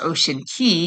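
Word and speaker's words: Ocean Cay: And then from Nassau, we went to MSC's private island, uh, Ocean K, or I think it's pronounced Ocean Key, even though it's spelled C A Y, but Ocean K.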